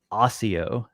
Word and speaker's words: Accio: a Scholastic website with a pronunciation guide and the spell accio was Osseo is how it was pronounced there now I haven't heard